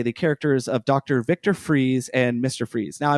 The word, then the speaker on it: Fries: So, it looks like Fries, but it's uh But, that is that is how you say the name Freeze. But, they pronounce it Freeze, though. Like Freeze, there's no difference between the two.